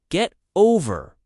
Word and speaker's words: get over: Tip, the stress is on over. Get over.